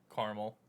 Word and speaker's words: Carmel: there's a there's a town in new york pronounced carmel but we all call it caramel no no